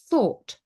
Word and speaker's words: thought: So GH is not pronounced before T at the end of many words. So a lot of them are the past simple irregulars. Thought, bought, brought, caught, sought. These are all irregular past simple verbs. And it's always, we've got GHT at the end, but we don't pronounce the GH.